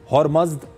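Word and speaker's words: Ahura Mazda: मध्यकालीन फारसी में अहरा माजदा का उच्चारण कई तरह से होता था। इसके अलग अलग उच्चारण हैं, जैसे इसका एक उच्चारण है हॉर्मज़द या हॉर्मोज। इस तरह से हॉर्मूज का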